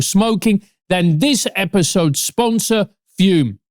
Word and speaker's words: Fume: And there's no better tool to break up with vaping or smoking than this episode sponsor, Fume. FUM, pronounced Fume, is an award-winning flavored air device used by more than half a million customers.